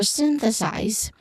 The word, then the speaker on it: synthesize: So pronunciation wise, for synthesize, you start with sin, of course, sin, which has a short E sound. This is the stressed syllable.